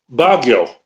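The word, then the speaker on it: Baguio: How do you pronounce it? Um Bagio.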